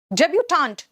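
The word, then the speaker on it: debutante: डेब्यूटांट, TANT, confident में TANT, last में TANT, देख रहे हो, है ना, इसमें एक ई लगा दो बस, फीमेल हो गया।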